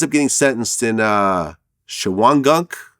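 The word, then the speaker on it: Shawangunk: getting sentenced in uh shawan gunk yeah am i pronouncing it right yeah yeah chihuan gunk uh correctional facility where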